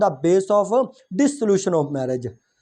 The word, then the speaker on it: dissolution: और माजरत के साथ यहाँ पे क्लियर कर दूँ, अक्सर बोला जाता है डेसोल्यूशन ऑफ मैरिज। डेसोल्यूशन ऑफ मैरिज नहीं होता बल्कि डिसोल्यूशन ऑफ मैरिज है। डेसोल्यूशन प्रोनाउंसिएशन ही गलत है बाय द वे जी।